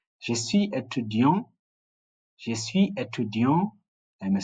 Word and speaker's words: étudiant: We said if the last letter is a consonant, it's not pronounced. That's why we're saying je suis étudiant for males and je suis étudiante for females. So the E, we call it the silent E, which gives sound to the consonant, which is usually not pronounced if it's what? If it's masculine.